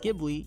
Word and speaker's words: Ghibli: The original word Ghibli is pronounced with a hard G instead of a soft G used by the studio.